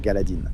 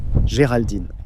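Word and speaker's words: Geraldine: Je pense que je le prononce correctement. Galadine. Géraldine.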